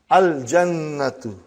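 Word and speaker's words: الجنة: Then we have jim, brother. You will pronounce lam. Al-jannatu.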